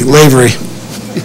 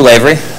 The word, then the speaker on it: Lavery: Ivy slavery excuse me Lavery common mispronunciation good evening everyone my name is Lavery just a little bit